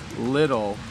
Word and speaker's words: little: We don't say the T sound in little. It's actually more like we say little, like little. Okay, I'll put that in the chat. So we say it like they're D's.